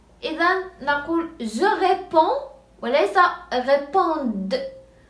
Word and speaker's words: réponds: إذن نقول je réponds وليس répondre. لا ننطق لا D ولا S.